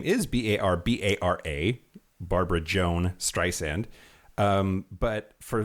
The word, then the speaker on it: Barbra: One of the things I learned about Barbara is that her birth name is Barbra, Barbra Joan Streisand. But for whatever reason, her name has gotten stylized as Barbra. No, it's Barbra.